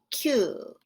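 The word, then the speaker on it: 九: going across the top the number nine in nihongo is pronounced q and this part of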